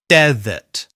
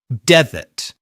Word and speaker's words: desert: We stress the first syllable and then use the weak uh vowel sound, the schwa, in the second syllable. Desert. Desert.